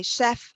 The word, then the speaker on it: chef: Well, they haven't been taught the French word for chef, but they know that the French CH is always pronounced sh. So they will say chef.